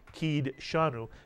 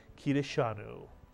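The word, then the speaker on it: קדשנו: dalit has a pronounced we wouldn't say kid shanu and you'll hear many people say that but the actual pronunciation of this word is kirishanu mitsuyan and kadoshi is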